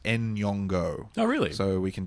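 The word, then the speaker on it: Nyong'o: one last thing I wanted to mention was Lup yongo yeah oh and I saw something the other day it's meant to be pronounced en yongo oh really so we can do that correctly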